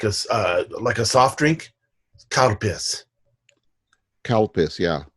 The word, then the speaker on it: Calpis: like a soft drink, cow piss. Cow piss, yeah. It sounds like cow piss, yeah. Yeah, and it's spelled in English. It's spelled CALPIS, I believe.